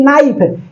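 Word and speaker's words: knife: लिखते हैं जैसे कि नाइफ के एन आई एफ तो के नाइफ थोड़ी कोई पढ़ता है नाइफ मतलब चाकू ऑनेस्ट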